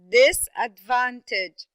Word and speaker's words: disadvantage: first syllable telescope okay how about the word disadvantage disadvantage this is a four syllable word okay this advantage yes very good so this and then we have this disadvantage okay so it would be the first and the third syllable very good how about